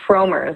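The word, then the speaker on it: Frommer's: let's say um uh I guess it's pronounced fromers I've always had Farmers but there there are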